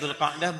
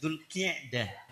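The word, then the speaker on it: ذو القعدة: Ini bukan Dzulqa'dah, bukan Dzulqa'idah. Dzulqi'dah. Qi'dah. Dzulqi'dah. Ki bukan ka tapi ki.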